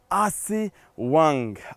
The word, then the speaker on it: أسوان: ونحن نتواجد هنا في مدينة جميلة جدا اسمها أسوان، عاصمة نوبة الشمال، آسي وانغ. آسي وانغ هكذا كانت تلفظ بالنوبية، آسي وانغ أسوان.